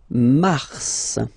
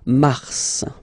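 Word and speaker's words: mars: it's an exception because normally final s is not pronounced in French okay we've got some exception and this one is one of them so Mar pronounce the final s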